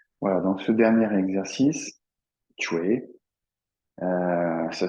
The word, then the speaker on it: Chui: Voilà, voilà, donc ce dernier exercice, Chue, ça s'écrit C-H-U-I, ça finit par I, je pense, de mémoire, Chui. Ça s'écrit Chui, hein, ça se prononce plutôt Chue. Chue, un T, TCH au départ, Chue.